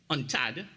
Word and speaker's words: UNCTAD: in 2021 a unctad which is you it's pronounced on Tad World investment report this